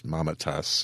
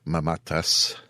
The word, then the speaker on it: Mamatas: by Nick mamatas and I'm probably not pronouncing that the way people normally do it's mamatas in hwa circles but I do believe the proper Greek pronunciation is mamatas we've also got a